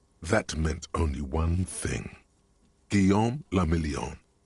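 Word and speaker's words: Guillaume Lamillon: meant only one thing guillaume lamillion if it doesn't rhyme you're not pronouncing it right out of the dazzling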